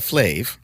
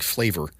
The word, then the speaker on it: Flav: flavor FL flavor a flave I keep saying flavor it's an a Johnny not an o r I thought my anema